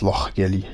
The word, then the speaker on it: Lochgelly: I've been pronouncing it wrong the whole time as well, so apparently it's Lochgelly. Lochgelly. Do you really think I have the capability of pronouncing it like that though?